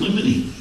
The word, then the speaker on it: limine: And motion in limine is just one of those shyster shenanigans. How do you spell that last word?